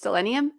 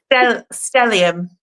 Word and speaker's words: stellium: I I always want to say it's stellennium, but I'm adding an extra letter and I know it. Stellium. Yeah. Stellium. See, I like Stellenium better.